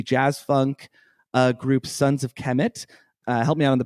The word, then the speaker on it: Kemet: I've been reading it as Kermit this whole time. Oh, well, there's no R.